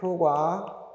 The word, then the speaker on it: 효과: 될게 여기에 해당되지 않지만 효과 효과 교과서 요게 발음이 최근에 바뀌어서 기억해주세요 효과도 맞고 효과도 맞아요 교과서 교과서도 맞고 교과서도